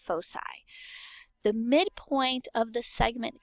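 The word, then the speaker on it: foci: points are called the fosi it looks like it would be a hard C but it's not it's pronounced fosi the midpoint of the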